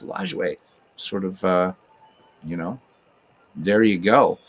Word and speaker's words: Lajoie: So in French, it's Lajoie, and that's how I pronounce it, as Lajoie. But I've heard people say LaJoie and Lajoie, and but looking it up, doing some research, it was pronounced Lajoie, so I'm going to stick with Lajoie.